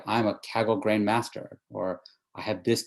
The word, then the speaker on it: Kaggle: Am I saying it right? Kaggle competition? Kaggle competition, yeah.